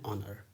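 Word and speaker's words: honour: okay, an ऑनर, क्योंकि इसमें एच का जो साउंड है वो साइलेंट है और कहाँ से शुरू हो रहा है, तो लेटर ओ का साउंड अ से शुरू हो रहा है, दैट इज़ ऑनर, और यह एक वाउल साउंड है, तो वाउल साउंड के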